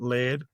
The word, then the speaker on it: Leard: I'm saying it Leard because it's spelt like beard with an L, but some people have already pronounced it Laird.